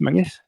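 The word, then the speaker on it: Menzies: I said why it say mang Castle it's men Castle it say not it's pronounced Mangus it's not men it's Mangus but it's spelled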